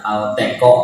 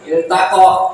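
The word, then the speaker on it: التقى: Kalau ketiganya ee fathah, nah berarti il iltaqa. Nah. Ingat ya, Bu. Jangan dibaca alqo.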